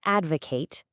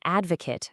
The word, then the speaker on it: advocate: Really feel that Kate sound. Now, step 2, use the noun form. Say, I am an advocate of, and finish the sentence. Feel the shift to the cut sound.